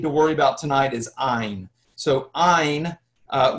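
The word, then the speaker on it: ayin: So the one we need to worry about tonight is ain. So uh which is silent when you read Hebrew today actually had a very soft guttural sound a little bit like an H.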